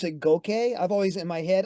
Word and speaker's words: Goke: It's probably GOKE, a GOKE. Probably, like Princess Mononoke, like that, where you sort of like swallow it. Right? Yeah, those Japanese leave, they leave the stress off that last syllable.